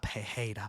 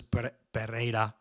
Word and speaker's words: Pereira: I asked around, and it's not Pereira because it's only a single R. So it's Pereira.